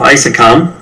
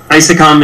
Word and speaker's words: ISECOM: name speakers are I'm the managing director of I sakam is EC om is how it's spelled and I sakam is a nonprofit organization that build up to